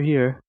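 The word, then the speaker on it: hier: in I'm right over here be careful and listen to the difference in pronunciation here here here here the main difference is the r sound now we're going to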